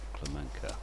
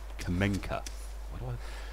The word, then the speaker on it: Kamenka: If there isn't, it's Clemenca. Why did I put an L in Clemenca? It's not. It's Kamenka.